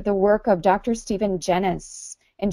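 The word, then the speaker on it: Genuis: Stephen Janis and Genesis spelled g en I us it's almost like genius but not quite dr.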